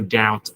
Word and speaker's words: doubt: So thì 100% có những từ như là absolutely, definitely yes, there's no doubt about it, by all means yes. Các bạn nhớ từ doubt này chữ B câm nha, đọc là doubt.